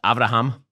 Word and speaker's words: Abraham: What he's trying to do here, by the way, is that in Hebrew, Abraham is pronounced Avraham.